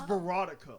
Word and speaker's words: Veronica: It's actually it's Veronica, like erotic, but with a V. Oh, okay, Veronica.